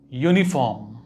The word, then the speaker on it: uniform: omelette, a stick, an umbrella, a uniform, because uniform is pronounced uniform.